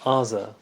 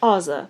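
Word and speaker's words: Azah: Yeah, but I feel like that's the way an American would say it. I feel like we would say Azza.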